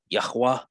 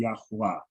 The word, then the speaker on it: Yahweh: And it just could be the way I'm hearing it, but it sounds like you're saying Yahuwah. Yahweh, Yah, Ew. like the second one, Con. Yahweh. All right. Okay. So just for academic, I know we have our preferred way of pronouncing the Yod Hey Wahe. But just for academic, so everybody can see and we're kind of like on the same sheet of music, right? It's Yahweh, right?